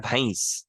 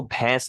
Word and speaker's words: भैंस: जैसे एक वर्ड में लेता हूं, भैंस। तो एक्चुअल वर्ड होता है भैंस, क्योंकि उसमें आई की मात्रा होती है, लेकिन वो भैंस बोलते हैं।